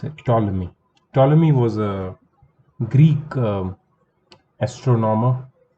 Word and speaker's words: Ptolemy: So Ptolemy, this is how you pronounce it, Ptolemy.